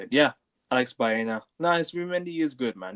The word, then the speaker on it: Baena: Yeah, Alex Baena.